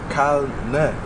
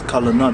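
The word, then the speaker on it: Calneh: Kalneh. No, this is not the right pronunciation. Okay. You have to read this. Kalana. This is the Yiddish.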